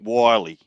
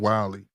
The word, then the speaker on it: Wyllie: Wiley. How you spell it? WYLLIE. A little bit like Wile E. Coyote.